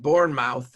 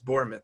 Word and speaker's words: Bournemouth: 27 goal differential and Bourne mouth as uh Ray calls him because they told me Ray that we're pronouncing it wrong it's borit they tell me has 31